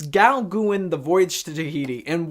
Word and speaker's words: Gauguin: I believe I'm pronouncing that correctly, but it's Gauguin, the Voyage to Tahiti.